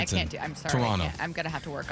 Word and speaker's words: Toronto: And then they say Toronto.